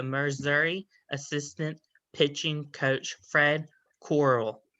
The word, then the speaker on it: Corral: assistant pitching coach, Fred Corral. How are you doing today? I'm doing very well, Brandon. And my last name is pronounced Corral, and Fred is in Flintstone, and Corral like in OK Corral.